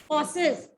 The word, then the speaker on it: cossaes: ध्यान से नोट करो, COSSAES, कॉसेस, COSSAES। हिंदी में इसको बोलते हैं खासा, COSSAES, कॉसेस, हिंदी में बोलते हैं खासा।